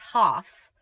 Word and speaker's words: half: folk Pronounce it as folk. The letter L is silent.